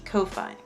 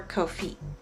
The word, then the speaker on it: Ko-fi: The third technical option is going to be Ko-Fi, or Ko-Fi, excuse me. Either way you pronounce it, that is also the third option.